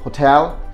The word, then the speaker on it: hotel: to the next one most of us pronounce this hotel hotel that should be hotel so what you do